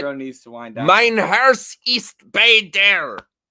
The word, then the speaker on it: Mein Herz ist bei dir: Mein Herz ist bei dir.